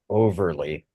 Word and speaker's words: Overlea: So I used to live in Baltimore, which has a suburb called Overlea, Overlea, pronounced Overlea.